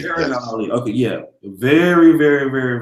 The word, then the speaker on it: Shahrazad Ali: Shahrazad Ali. Shahrazad Ali.